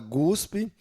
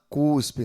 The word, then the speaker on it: cuspe: O ortoépia e muitas pessoas falam gusp ao invés de falar cuspe, né?